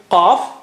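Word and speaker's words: قاف: And how do you say qaf? Touch the inner part of the tongue to the roof of the mouth right at the back, behind the uvula.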